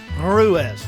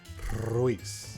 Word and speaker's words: Ruiz: Everybody calls you Ruiz. Everybody says Ruiz. It's incorrect.